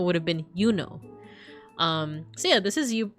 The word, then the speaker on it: Juno: It wouldn't have been pronounced Juno. It would have been Yuno.